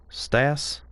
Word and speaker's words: CTAC: CTAC is pronounced Stas?